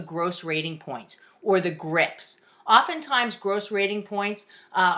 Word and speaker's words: GRPs: we say grips grps pretend there's an i in there and we pronounce it grips what really gets to me is when people pronounce it grps that's my little pet